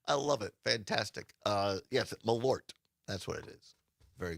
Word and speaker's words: Malort: But Carol says it's one syllable. Malort.